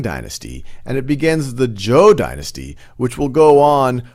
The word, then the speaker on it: Zhou: And so he eventually faces his end in the Battle of Mu Yi against King Wu of Zhou, or Zhou is actually the correct pronunciation, King Wu of Zhou.